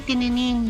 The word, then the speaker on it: Tinenin: call me tininin you you know how to read it right and it's thin and it's thin not thine but I'm okay if someone someone mispronounce it but but because you guys are here I I hope you guys Uh remember it's thin um I have my